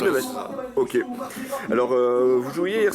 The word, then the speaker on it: Neves: C'est bien ça la prononciation de Neves? Neves. Neves.